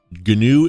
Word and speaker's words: GNU: is pronounced G um like saying Gru but replacing the r with n g ganu is an extensive collection